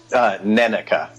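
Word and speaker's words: Nenneke: Neneka.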